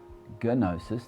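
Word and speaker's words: γνῶσις: silent g in english in greek where this word comes from gnosis you'll hear that i said gnosis the g is not silent in fact in greek there's rarely if any silent letters the gnostics from the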